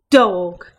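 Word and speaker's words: d'fhág: So therefore in Irish you would say Dawg.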